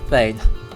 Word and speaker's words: thane: In Icelandic or Norse, it would be Thorn E-G-N, but pronounced roughly the same, Thane.